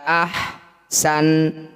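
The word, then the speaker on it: أحسن: Wa ibadi yaquulullati hiya ahsan. Ahsanu. Ketika dihentikan maka huruf terakhir ini kita sukunkan ya. Ahsan. Hati-hati sanya tidak usah dipanjangkan karena awalnya memang pendek maka ketika dihentikan tetap pendek. Hiya ahsanu.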